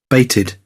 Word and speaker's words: bated: It is the pronunciation id, not ed. It's id. I. This is called id. You want to listen to the pronunciation? Baited, baited, baited, baited, baited, baited.